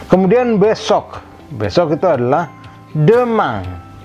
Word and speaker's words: demain: Besok itu adalah demain. Demain. Demain. IN berbunyi ang, maka ketemu A ini menjadi makin tegas ang. Kemudian E-nya tidak ada aksennya, maka itulah besok. Dibacanya demain.